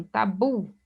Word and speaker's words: tabu: Então, oxítona, a mesma coisa com tabu. Tabu, observe que aqui a última sílaba é a mais forte.